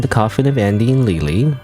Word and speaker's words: Leyley: It's a Saturday and and I'm going to continue playing The Coffin of Andy and Lely, which I always pronounce Lily even though it's supposed to be Lele.